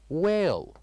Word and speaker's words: whale: And the second one, whale, where H is silent.